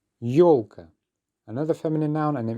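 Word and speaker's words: ёлка: Yolka. Yolka.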